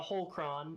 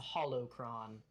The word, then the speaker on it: holocron: a little bit um it's not a whole cron it's a holocron and I'm sorry to